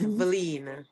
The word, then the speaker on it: Valen: So I will be there and I have to correct the pronunciation of my name. It's Valen.